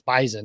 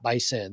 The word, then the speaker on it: bison: how you say it it's bison not by sin the same reason it's visor not by sir so i also say